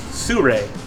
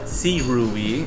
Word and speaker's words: Sirui: at her right side how is it pronounced Sur not sirui it is Sur sorry to that guy